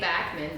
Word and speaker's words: Backman: I will say Backman because it's spelled back.